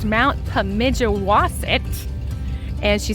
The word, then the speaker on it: Pemigewasset: It is pronounced Mount Pemigewasset.